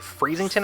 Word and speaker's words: Freezington: So basically fly back to the town that some people mispronounce. It's actually Freezington, I believe is what we call it.